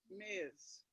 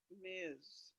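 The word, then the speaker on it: Ms.: a new term and it's pronounced kind of like miz yeah so this uh the the misses and miss it's kind of a change on the miss it's it's miz yes some professional women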